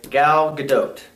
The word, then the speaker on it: Gal Gadot: So, Diane Prince, Wonder Woman, is being played by Gal Gadot. And that is the correct pronunciation because I looked it up myself.